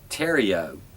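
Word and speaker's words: Theriault: Another was Austin Terrio. His name does not look like Terrio the way it's spelled, because it's like French Canadian or something.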